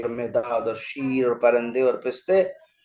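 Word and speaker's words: پرنده: ठीक है, आगे आप देखें नेक्स्ट वर्ड है जिसका परिंदा। तलफ्फुज हमारे यहाँ होता है परिंदा। टूटा टूटा एक परिंदा ऐसा टूटा, ठीक है, बट फारसी लफ्ज है ये परिंदा और उसका सही प्रोनाउंसिएशन है परंदे।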